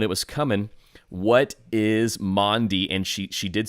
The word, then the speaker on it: Maundy: What is Maundy? And she did spell it right, because it's typically pronounced wrong. A lot of people want to call it Monday. It is not Monday.